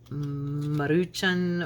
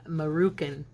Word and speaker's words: Maruchan: funny because I've always I have mispronounced that for my whole life or as long as they've been around because I've always called them Moroccan and she I go